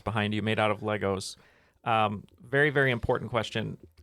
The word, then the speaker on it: Lego: you made out of Legos um very very important question if uh it's pronounced Lego not Legos Lego is there are